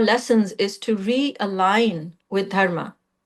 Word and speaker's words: dharma: I think the pronunciation in the word is dharma but it's not dharma it's dharma and dh is the the sound duh is actually not in English so that's why it's sounding a little foreign um so